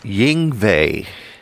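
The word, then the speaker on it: Yngwie: pushi no like y it's like Y in yve malmstein yes how do you say that again Ying that guy's deal uh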